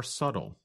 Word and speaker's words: subtle: But other differences are more subtle. That's spelled S-U-B-T-L-E. But we do not pronounce the letter B in the word.